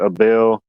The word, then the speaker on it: Abel: Well, it's A-B-E-L. I don't know how you pronounce it, Abel, Ebel.